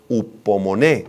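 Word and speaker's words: ὑπομονή: Es muy importante, es la palabra griega upomoné, con acento en la e y h al principio.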